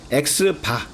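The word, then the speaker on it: x̄: 그리고 x바, 그러니까 x 위에다가 이렇게 위에 줄 그어 놓은 거 있잖아요. 이걸 x바라고 읽는데 축구 보면은 이렇게 축구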